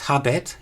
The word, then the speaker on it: habet: Now I have pronounced it as habet, as you would in classical Latin, but in early Latin and in Plautus it was probably still pronounced habet with a long vowel.